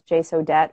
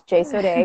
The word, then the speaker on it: Jsodet: my logo it says it looks like it says J so debt which technically that's how you would say it but I wanted to be fancy and have it rhyme with crochet so it's Jason a crochet I've been crocheting since